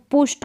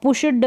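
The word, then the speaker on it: pushed: में ई डी है, तो पुष्ट करके पढ़ते हैं, पुष्ट। अब पुष्ड ड का साउंड ना दे, यानी डी का, यहाँ पर ट का साउंड निकलता है।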